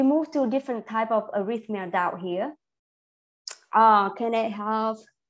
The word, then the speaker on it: arrhythmia: Arrhythmia. Okay. So the first and the last word pronounce the same. You don't actually say it ah, but because it's not stressed. So arrhythmia.